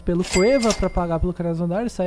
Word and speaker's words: Krasnodar: Pode repetir a pronúncia. Krasnodar, é isso?